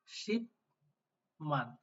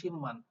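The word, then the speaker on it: 십만: পরে মিউম আছে কিনা তাহলে এটার উচ্চারণ কি শিপমান নাকি শিমমান কোনটা সঠিক আশা করি আপনারা নিজেরাই নির্ধারণ করে ফেলছেন যে নিচেরটা সঠিক তবে এটা ময় ময়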